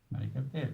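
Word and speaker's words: Marek Halter: Bene, c'è una introduzione anche nel libro di Marek Alter, che viene pronunciato alla francese, no?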